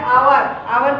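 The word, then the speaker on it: hour: Silent H होगा और silent H जैसे आवर की spelling H ओ यू आर होती है आवर उसमें एच जो होता है वो साइलेंट होता है।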